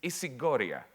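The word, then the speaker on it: ἰσηγορία: I'll pronounce it in Greek. It's isigoria.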